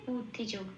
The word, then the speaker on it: বুদ্ধিযোগ: সংস্কৃততে ব এর উচ্চারণ উপ প্লাস অ। কিন্তু এখানে কোন ও প্লাস অ দেয়া হয়নি। কেন? তার কারণ একটু লক্ষ্য করলে দেখা যাবে বয়ের পেটটা কাটা। যে বয়ের পেটটা কাটা থাকে সেশানে সংস্কৃতের উচ্চারণটা ঠিক বাংলা বয়ের মত হয়। তাই এখানে বয় হসটা বাংলা বয়ের মত বু বলেই উচ্চারিত হবে।